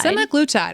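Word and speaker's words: semaglutide: something called simaglitide I I go ahead and pronounce that for me because semi-glue time semi-glutide all right how did you decide to incorporate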